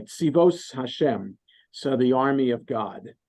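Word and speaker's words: צבאות השם: You know, in Chabad, I think the youth movement in Chabad is called Tzivot Hashem, but you have to pronounce it the Ashkenazi way, Tzivos Hashem.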